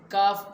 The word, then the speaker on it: کاف: دیا۔ اور ایسے ہی اس کاف کو کاف پڑھنا بھی ضروری ہے۔ کاف یہ عربی زبان کا تلفظ نہیں ہے، بلکہ یہ دنیاوی تعلیم میں استعمال کیا جاتا ہے، اس لیے کاف کو کیاف پڑھنا یہ غلط ہے۔ یہ اسی زمرے میں